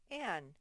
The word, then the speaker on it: Anne: And look, it has 2 N's. That means it's a double final consonant because it's at the end. There's 2 letters, but we only say one sound. Anne.